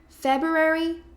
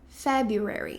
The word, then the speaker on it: February: Então, temos essas duas opções. Ambas são aceitas e estão corretas. Por exemplo, my birthday is in February ou my birthday is in February. Ok? Então, realmente a diferença entre um e outro é bem sutil. É só com o primeiro R mesmo.